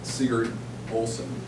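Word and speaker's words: Sigurd Olson: one of my favorite quotes comes from environmentalist Seager Olsen I pronounced it right he says one must live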